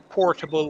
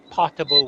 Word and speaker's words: potable: water put the sorry make that pronunciation clear because some people might think we talking about portable water it's potable water MH yeah Define that